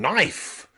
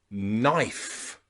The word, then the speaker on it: knife: all of these words the letter K comes before the letter n and that means the letter K is silent so practice with me night night knife knife and knee knee